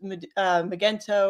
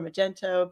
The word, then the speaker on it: Magento: right and for a long time I used Magento or Magento people pronounce it different ways I've always been a